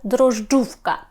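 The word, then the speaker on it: drożdżówka: отак го мами дружджувка тут маємо накопичення складних приголосних так важких нам ось тут десь вони застрягають для вимови тут Насправді все досить Просто ми маємо дров тут проблем нема а далі маємо ж д ж так дрожж перша ж читаємо як звичайне ж Z з крапочкою зверху ми читаємо завжди як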